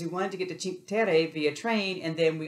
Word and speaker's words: Cinque Terre: Yeah, so, I mean, one of the reasons that we've got a car is to do some hiking in Cinque Terre.